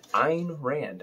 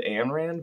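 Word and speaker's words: Ayn Rand: did get a lot on ebay for a ein rand i think that's how you pronounce it i've always said ann rand because i'm a uh imbecile from uh buffalo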